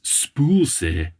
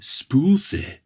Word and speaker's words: spøgelse: the Danish word for ghost, and it is spøgelse. But it's spelled S-P-O, the line through it, G-E-L-S-E, but it is said spøgelse.